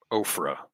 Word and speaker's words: Ophrah: Ophrah. Ophir. Oh, it's like Oprah. Got it. Ophir Prancy? It's spelled exactly the same way.